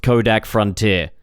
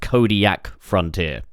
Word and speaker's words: Kodiak Frontier: It's not pronounced Kodak Frontier. It's pronounced Kodiak Frontier.